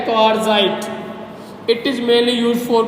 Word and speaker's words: quartzite: क्या बोलते हैं इसको, क्वार्टजाइट। क्वार्टजाइट, QUARTZITE, यहाँ पे टी साइलेंट रहेगा बेटा, क्या नाम होगा क्वार्टजाइट।